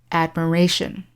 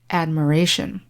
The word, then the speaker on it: admiration: in the noun form however the stress falls on the third syllable and we go to a short i sound and a long a sound so the noun form is pronounced admiration admiration in the adjective form